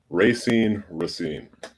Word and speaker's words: Racine: So actually, Racine.